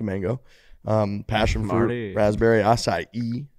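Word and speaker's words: açaí: um passion fruit raspberry acai is a great word it is it's a healthy one some people say like aki or aci acai bowls don't know how to hit it it's acai it's got to be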